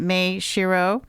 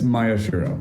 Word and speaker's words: Maeshiro: pronouncing your name correctly is it may Shiro it's Maya shirro Maya Shir shirro okay uh and we're